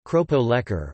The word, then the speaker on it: keropok lekor: Lekor, Malay pronunciation, lekor, keropok lekor, Malay pronunciation, kropo lekor, or fish sausage is a traditional Malay fish cracker snack originating from the state of Terengganu, Malaysia.